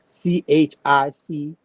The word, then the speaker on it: Chickahominy: You going to spell it for you just in case? Chickahominy. Now coming down, in addition to the Powhatan Confederacy tribes, like the Pamunkey and the Chickahomie, you know what I'm saying?